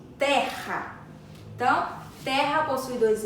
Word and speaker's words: terra: hora da nossa garganta Nossa garganta arranha um pouquinho quando pronunciamos Terra então Terra possui dois